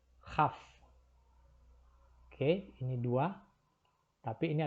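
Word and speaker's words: כ: Jadi kalau tanpa titik, transliterasinya adalah KH. Dengan titik itu adalah K. Kaf dan Khaf.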